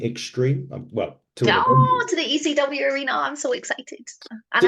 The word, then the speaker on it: ECW: n76 is going extreme well to to the ECW Arena I'm so excited and I said it right not EC3 Arena ECW Arena well to be fair it